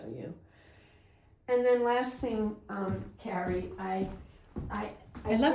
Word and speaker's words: Carrie: Well, it's just like in New York they'll say Carrie, Carrie. and British people do that too. They differentiate. Right. But in California, Carrie and Carrie are Carrie and Kerry are pronounced the same.